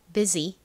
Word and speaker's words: busy: 유는 보통은 어 소리나 우 소리나 유 소리로 쓰이는 경우가 많지만이 단어에서는 예외적으로이 소리로 쓰였다는 점 설명드렸죠. 가장 끝부분은요. SY를 써 주시면 완성입니다. 발음해 볼게요. 밥은 busy busy 자 팬들고 함께 적어 볼까요?